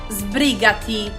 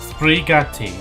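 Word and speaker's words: sbrigati: And again, if I haven't said it already, they they are like Spanish uh pronunciation or not Spanish, Italian, sorry. How to say hurry up in Italian? Sprigatti. Sprigatti.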